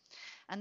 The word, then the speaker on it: v: note is in Australia we do not pronounce the V between the party names in civil cases we use and so you would have